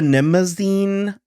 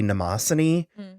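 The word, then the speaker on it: Mnemosyne: would happen they also the ship was the nimazine i've never heard i looked it up and that's apparently how it's pronounced i've always known it it's the greek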